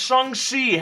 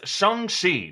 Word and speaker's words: Shang-Chi: I'm Erik Voss, and Marvel's Shang-Chi has a new trailer revealing its martial arts hero in a mystery plot involving the Iron Man foes, the 10 Rings.